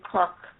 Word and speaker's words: Cork: So that became Cork. I would just make sure you pronounce that R.